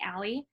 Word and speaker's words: A11Y: So there are 11 letters between the A and the Y for accessibility, and that gets shortened to A11Y, which is pronounced usually ALI.